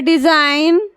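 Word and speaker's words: design: है कि आप देखिए ये है डिजाइन डिजाइन में जी एन आया है तो जी का उच्चारण नहीं हो रहा है कहीं हो रहा है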